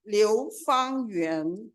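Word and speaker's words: 流芳园: The Chinese Garden is pronounced Liu Fang Yuan in Mandarin, translating into dual meanings.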